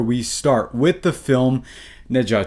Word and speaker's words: Ne Zha: one question before we start with the film Nea 2.